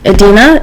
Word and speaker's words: Idina: So I was pronouncing her name, and I was like, Idina, that's right, that's how you say it? And she was like, yes, like, I should know.